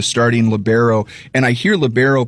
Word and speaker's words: libero: And I hear libero pronounced 2 different ways when I talk volleyball. How do you pronounce it, Rory? It's libero. Okay. In my eyes, some people say libero.